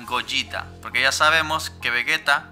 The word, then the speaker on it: Gogeta: está del segundo sí ya sé que aquí le decimos coqueta pero la pronunciación correcta sería goyita porque ya sabemos que